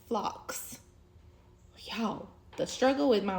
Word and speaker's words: phlox: thought that they were pink, and they're actually pronounced phlox.